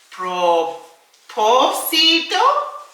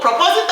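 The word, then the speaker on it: propósito: mi pro posito pregunta? WHERE DOES THE ACCENT GO? PROPOSITO has an accent, where does it go? 5 4 3 2 and 1. Boom! Okay, you're right. On the second O, okay?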